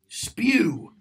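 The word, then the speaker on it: S.P.E.W.: Spew, which is exactly how it's pronounced.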